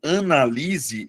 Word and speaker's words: analise: O primeiro caso, analise, é verbo, Luana. Mas aí você vai perceber, analise, a sílaba tônica é a anterior, beleza? É a penúltima sílaba. Já no caso do substantivo, você muda a tonicidade, você muda a posição da sílaba tônica, Luana, e transforma em substantivo.